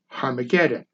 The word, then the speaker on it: Armageddon: This is the origin of the New Testament name of Armageddon, correctly pronounced in Greek as Harmageddon.